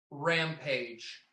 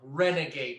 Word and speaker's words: Renegade: There was a bull called Rampage that I rode at. No. I'm saying his name wrong. Renegade, not Rampage.